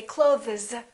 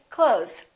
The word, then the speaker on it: clothes: one month two months same thing with the word clothes we don't really say clothes you might hear a tiny th with some people's pronunciation but most people just say clothes i bought some new clothes all right silent p